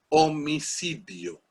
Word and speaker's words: homicidio: humano eso es un homicidio y por eso se escribe con h aunque ya en español no suena lancha hay otras palabras